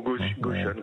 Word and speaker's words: Gotion: Gotion ou Gotion, comme vous voulez. Nous on dit Gotion, mais il n'y a pas de prononciation officielle.